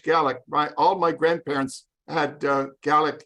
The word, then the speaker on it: Gaelic: It's not Gaelic, that's what the Irish speak, but it's Scottish Gaelic.